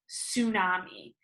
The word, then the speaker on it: tsunami: right here it spelled TS UN a Mis and it is said tsunami that T on the front is silent what a weird word